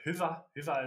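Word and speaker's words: Hyvä: But Hyva is just it's like bon in French or good in English.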